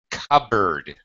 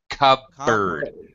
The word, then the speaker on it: cupboard: board right but um don't pronounce the P the p is silent c bird Cub Bird yeah it it sounds